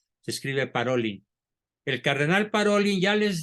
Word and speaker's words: Parolin: Si mal no recuerdo, es el cardenal Parolin, que les Parolin, es de origen francés, se pronuncia Parolin, se escribe Parolin.